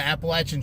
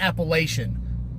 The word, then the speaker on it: Appalachian: dude that ran the Appalachian Trail you know it's funny you ran that whole trail you still can't pronounce the goddamn name right it's not Appalachian it's Appalachian get it